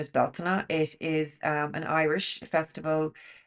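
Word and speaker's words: Bealtaine: the UK, Beltane, but it's not actually called Beltane, it's called Beltana. So that's the correct pronunciation, is Beltana.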